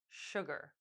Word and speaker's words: sugar: Please note that the letter S in sugar and the CH in chef are pronounced sh too. Listen carefully. Sh, sugar.